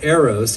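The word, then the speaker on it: Aeros: the next piece is called arrows it's spelled a-e-r-o-s so you know don't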